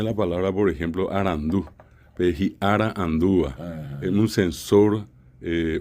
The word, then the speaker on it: ara: Ara.